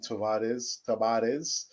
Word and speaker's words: Tavares: Nuno Tavares, I prefer the Spanish pronunciation, Tavares.